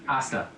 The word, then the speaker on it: hasta: Hasta, you don't pronounce the H? Hasta.